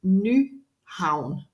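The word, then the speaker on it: Nyhavn: the place so the the pronunciation is new Hound that's uh the way you pronounce it so definitely a place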